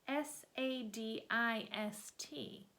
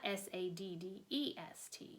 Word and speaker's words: sadist: what you're talking about that's sa di st not sa d de st you know Charles Wallace said and giggled again lots of people don't pronounce it correctly well I don't care